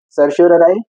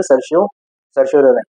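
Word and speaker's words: certiorari: Option है ए mandamus, B को warranto, सी सर्शियोरराई, D prohibition. इसका प्रोनाउंसिएशन सर्शियोरराई या सर्शियोररी।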